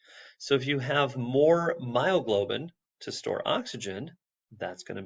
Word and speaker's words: myoglobin: And you may recall it rhymes with glioglobin, and it's myoglobin.